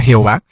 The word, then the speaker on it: Jehová: padre primero entendamos que la palabra ya veo jehová viene de cuatro letras que son de hb h estas cuatro letras no contenían vocales y luego algunos como tratando de pronunciarlas dijeron que jova osea jehová y otros dijeron ya ve en sí lo importante